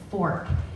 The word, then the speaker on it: Forcht: I'd be offended if they called it Forcht too. They call it Forcht, but it's Fork.